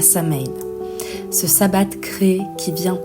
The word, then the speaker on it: Samhain: Par exemple, Samhain se prononce Samhain.